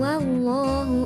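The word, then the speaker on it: الله: harakat fathah atau dhummah maka harus dibaca tebal lam yang terdapat dalam waktu jalalah dinamakan bilang jalalah cara membacanya dengan menjorokan atau mencondongkan bibir kedepan contoh lafdzul jalalah yang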